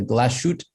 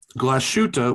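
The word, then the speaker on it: Glashütte: this probably uh the glashoot panor panomatic lunar is it worth spending the money on watches that lack the name recognition well glashutta which you got pretty close zach um i'm sure you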